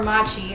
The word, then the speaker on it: mochi: so that's emoji is or machi as siri pronounced it machi they said mochi on the show so i'll sandwich